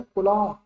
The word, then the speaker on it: coulomb: उसके बाद next one, fifth, 10⁻⁻⁹, क्या लिखा है, कुलॉम, COULOMB, कुलॉम। गुलाम भी पढ़ते हो, उसको बी साइलेंट कर दो, तो जो भी पढ़ते हैं आप, कुलम, गुलाम, कुलम, कुछ भी।